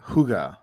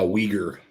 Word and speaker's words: Uyghur: you pronounce that word i always thought it was uh hygge it's uh uyghur uyghur yeah they are an